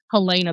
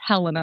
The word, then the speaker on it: Helena: I always said Helena, but it's Helena, I think, Ohio.